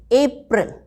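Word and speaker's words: April: अप्रैल. Smart and correct pronunciation.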